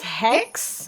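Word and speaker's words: Xhex: way he was with, do you pronounce it Zeg? I think it's Hex. Okay. I think the X is supposed to be silent, but I could be wrong.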